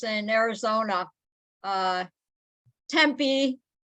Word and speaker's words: Tempe: names in Arizona uh Tempe they say temper people that you know come down to visit Tempah and then and then